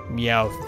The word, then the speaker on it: Meowth: it tells you who you've caught the ow Meowth that is how you say that normal scratch